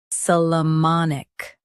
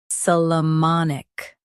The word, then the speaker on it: Solomonic: Solomonic. Stress mon and keep ik soft.